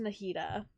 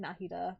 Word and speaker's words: Nahida: So we're gonna go talk to Nahida. I keep saying her name wrong as well. I keep saying Nahida, but it's Nahida.